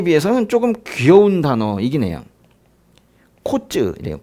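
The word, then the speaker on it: קוץ: 코츠 이래요. 코츠.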